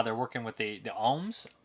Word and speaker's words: Oms: they're working with the ohms. OMS is how they say it.